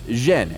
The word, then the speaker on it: Yen: also known as Canton in the Beijing dialect his surname is pronounced Jen and yen is the Cantonese pronunciation the father of the